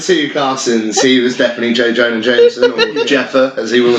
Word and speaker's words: J. Jonah Jameson: I can't pronounce J. Jonah Jameson. J. Jonah Jameson. I mean, it's really easy. It's J. Jonah Jameson.